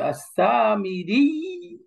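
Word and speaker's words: السامري: কিন্তু না, এখানে তাসদিদ সহকারেই ধরে রেখে পড়তো আসামিরি, রি, রি, ডাবল ইয়া উচ্চারণ।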